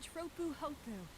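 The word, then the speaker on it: Tropu'hopu: we arrived here on tropuhoku that's how it's pronounced I would have thought it'd be like chocolate or something like that but I guess since there's only one p in each part of the name then I guess it makes sense it'd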